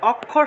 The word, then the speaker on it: অক্ষর: বাংলা অক্ষর, সংস্কৃত অক্ষর, এই অক্ষর শব্দটা কীভাবে উচ্চারণ হবে? উচ্চারণটা হবে ক যোগ মূর্ধন্যস্যতে ভেঙে। অর্থাৎ ক্ষীয়ের জায়গায় আমরা কি উচ্চারণ করব? ক এবং মূর্ধন্যস্য, তাহলে উচ্চারণটা হবে অক্ষর উচ্চারণ হবে, ঠিক আছে?